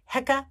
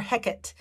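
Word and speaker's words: Heqet: egyptian goddess and there's two different pronunciations for her name heca or hecate and i'm gonna just say hecka so hecka was the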